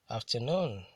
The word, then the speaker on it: afternoon: Polysyllabic words that end with EE, QUE, ERE, ADE, ESE, ETTE, and NOON are usually stressed on the ultimate syllable.